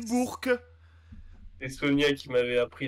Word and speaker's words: Bourg: à la JDL Bourg-en-Bresse Bourgue pardon Bourke Bourke l'équipe on dit Bourke et Sonia qui m'avait